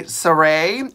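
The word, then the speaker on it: Sarai: They were also made by Saray, and I hope I'm pronouncing it right, Saray. It's S-A-R-A-I.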